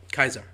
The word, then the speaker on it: Caesar: It's a pronunciation thing. They write it as C.